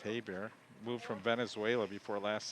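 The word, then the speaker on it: Geiber: His name is spelled G-E-I-B-E-R, but pronounced Heiber.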